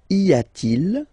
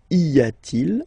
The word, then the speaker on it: y a-t-il: And the way you will pronounce it is y a-t-il, y a-t-il.